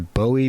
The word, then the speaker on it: Bowie: bowie and so yeah always always it's always bowie and that's what he called himself okay and